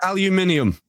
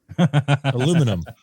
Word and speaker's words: aluminium: Pronounce aluminium. Aluminum.